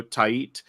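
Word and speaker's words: Tait: a catching Prospect Eduardo tiit it's spelled t AI T but I heard them pronounce it TI um catching Prospect he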